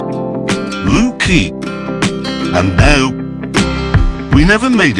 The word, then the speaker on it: Looe Key: And it's not pronounced Looe Key, as you would expect. It's pronounced Looe Key.